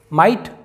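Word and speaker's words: might: मतलब होता है रात माइट जी एच साइलेंट है माइट मतलब शक्ति और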